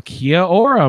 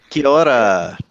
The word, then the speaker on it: Kia ora: Well, Kia ora, Mark. Is that right? Did I Nice. say it right? Kia ora. Ora. Sorry. It kind of rolls together, yeah.